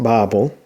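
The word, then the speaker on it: בָּבֶל: uh word 8494 and it's uh pronounced bible uh let's uh kind of where we get our english babel uh this is a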